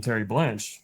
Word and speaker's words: Terreblanche: He's a very interesting character, and that name we pronounce it Terreblanche, and it might even be, when I look at that name, it has like a French sound to it, so it